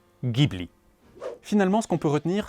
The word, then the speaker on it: Ghibli: On prononce donc en accord avec la prononciation en arabe libien Gibli.